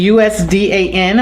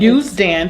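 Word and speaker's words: Usdan: youth classes and the US DAN. Am I saying that right? We pronounce it Youth Dan. Youth Dan Center for the Creative and Performing Arts.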